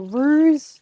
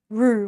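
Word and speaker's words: roux: And I just want it to be like hot enough that it's r without the x. Yes. Um, it's spelled with an X, but I don't think the X is pronounced when people say R.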